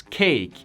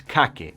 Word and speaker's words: cake: ¿Ves cómo se escriben las palabras cake y bake? No se pronuncia la E al final, no es cake o bake.